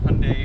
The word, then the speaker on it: Hyundai: k5 the hyundai sonata hyundai i've been trying to say hyundai now because that's how it's technically pronounced we have the elantra